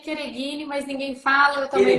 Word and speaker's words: Chereghini: Na verdade, se pronuncia Chereghini, mas ninguém fala, eu também não falo, então a gente tá tudo certo.